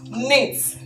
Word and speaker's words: knit: not knits knit is wrong because the k is silent so the word is nyx knit now knit means to make clothes from rolling